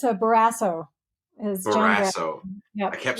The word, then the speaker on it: Barrasso: Well, I saw your rebuttal video to I'm going to say his name wrong. I keep wanting to say Bolsonaro. Close. No, but it's a Barrasso.